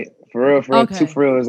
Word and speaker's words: Kalan.Frfr: For real, for real.